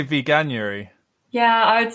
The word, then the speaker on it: Veganuary: and i'm going to struggle to say this veganerry month in january is that the correct pronunciation i'd say veganuary yeah i would say veganuary not veganery yeah i know it's not right but i